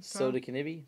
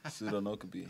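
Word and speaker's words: Sodinokibi: So how do you pronounce this ransomware again? Soda Kinibi? Did I say it wrong? Sodi, I said it wrong. Pseudonokabi.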